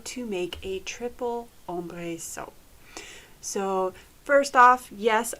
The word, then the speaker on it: ombre: it means shadow, and I will always say ombre. So just a little background why I say it that way when I know most people don't. The French in me just can't pronounce it any other way.